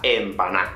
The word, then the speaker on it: empaná: en panamá de hecho en españa no decimos empanado o empanada decimos empanado o esta chica está en panal es muy raro ver cómo se pronuncia la última de así que simplemente la omitimos voy a quitarte fue